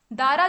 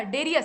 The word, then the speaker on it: डेरियस: दारा जो उच्चारण है वो भारतीय उच्चारण है, भारत के लोग इसे दारा कहते थे, लेकिन इसका वास्तविक नाम क्या था? डेरियस था।